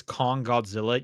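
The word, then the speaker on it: Kong x Godzilla: Also, apparently the way to pronounce that movie's name is Kong Godzilla. You just don't say the X, Mm, which is also just I just don't like that.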